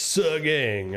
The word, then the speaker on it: Sagang: Oh, by the way, we were pronouncing Sagang's name wrong. Sagang. Yeah, it's Sagang.